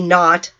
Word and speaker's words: naught: v with a 0, which is pronounced v naught, as in NAUGHT, meaning nothing.